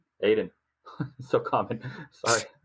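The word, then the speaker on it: Ayton: So I think that going to a team with Booker and Aton, how do you say his name? Aiden. So common. Sorry. How do you get Aton to Aiden?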